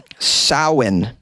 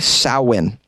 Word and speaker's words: Samhain: Mary says, it's actually pronounced Samhain. Sow, like a female pig. Samhain.